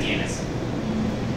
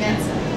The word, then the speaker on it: DNSSEC: Are you talking about DNSSEC or NetSec? Yeah, DNSSEC. Sorry, did I mispronounce that? You were saying NetSec.